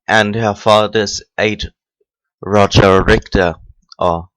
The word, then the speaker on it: Richter: Roger Richter, or Richter, because I'm familiar with the German language and pronouncing it Richter is absolutely wrong. But there is no sound in the American language, so that the CH becomes a K, whatever.